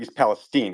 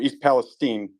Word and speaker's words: East Palestine: that stuff came from East Palestine I'm sorry East Palestine it's pronounced Steen not Stein stuff came from East Palestine 15 miles down through